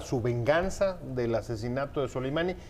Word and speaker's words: Soleimani: nos va a explicar muy bien cómo se pronuncia. Soleimani.